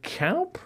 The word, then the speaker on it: De Kuip: And the Kuip in Rotterdam?